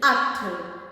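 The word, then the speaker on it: ਅੱਠ: The number 8 is At, as in Kathmandu. Remove the K, focus on A-T-H, At, K, At, Mandu, K, At.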